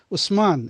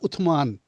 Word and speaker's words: Uthman: Usman is Usman, but it's not Uthman.